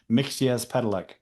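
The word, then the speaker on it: Mxyzptlk: Mixes Pedelec.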